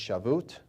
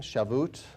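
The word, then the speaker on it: Shavuot: I may mispronounce it, I think it's shaboot. Uh, S h a vo u t. I don't know if that's how it's pronounced.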